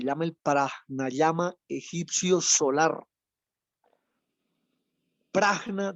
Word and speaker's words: prajna: Prajna lleva una J en la mitad. No es prana, es prajna. La verdadera forma de pronunciar esa palabra es prajna, con J intermedia.